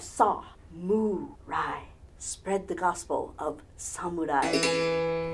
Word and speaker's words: samurai: sandwich on rye bread if you think of it and break it down into those three syllables you have saw Moon Rai spread the gospel of